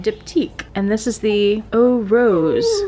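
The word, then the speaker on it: Eau Rose: and this is the oh rose that's how that's pronounced right e-a-u in french's o o rose nice i like the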